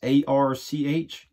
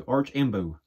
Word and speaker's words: Archenbo: It's ARCH, just like Arch. Embo, AMBO, so Archenbo, I guess how you pronounce it.